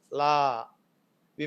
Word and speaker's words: law: english sorry uh uh in the telugu way of speaking or pronouncing this word is locker la we make it strong but it should be rounded law okay and when it